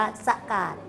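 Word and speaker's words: ซะกาต: นะ เขา เรียก ว่า ซะ กาต นะ คะ เรียก ว่า สะอาด นะ มัน เขียน เนี่ย มัน เป็น ภาษา เขียน ยาก นะ ถ้า เป็น คำ อ่าน ก็ อ่าน ว่า สะ กาด นะ บริจาค ทรัพย์ เสีย สละ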